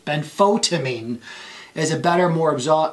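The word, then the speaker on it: benfotiamine: milligrams twice a day than photivine sorry i mispronounced it ben photamine is a better more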